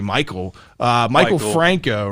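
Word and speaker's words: Maikel Franco: Third baseman, I think the way you pronounce this is actually Michael Franco, right?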